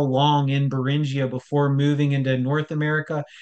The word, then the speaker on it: Beringia: supposed dry land of beringia yes there are it's spelled b r um like bearing b r i n g i a and if